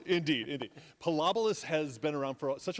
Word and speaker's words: Pilobolus: It's pronounced Pilobolus. Okay, and Pilobolus, indeed. Pilobolus has been around for such a long time,